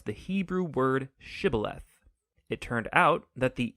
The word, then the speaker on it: shibboleth: wanted to cross to pronounce the hebrew word shibboleth it turned out that the ephraimites had grown up pronouncing that word differently so instead of saying shibboleth they would say sybileth when that happened the gili knight guard would